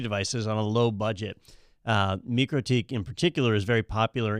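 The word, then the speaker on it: MikroTik: Or we used to call it Microtic because we didn't know any better. But I was Microtik. but it is actually Microtik Yeah.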